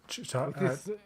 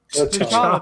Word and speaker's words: T'Challa: I mean, it has a way of succession now with Chitala. Chitala. Is that his name? No. Were you saying it wrong? T'Challa, thank you.